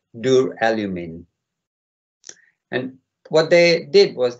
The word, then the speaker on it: duralumin: And it's pronounced duralumin.